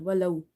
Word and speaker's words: ولو: So before waw sakina you have fatha. This makes this waw lean, gentle. Walau, walau, sha.